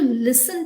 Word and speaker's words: listen: are you able to listen to me are you listening to me not this thing it is listening so the t is silent l-i-s-t-e-n but the way of pronouncing is just l-i-s-s-e-n listen uh similarly with match